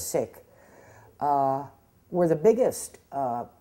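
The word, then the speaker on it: Sikh: pronounce it that way I thought it was sik but it's sick uh were the biggest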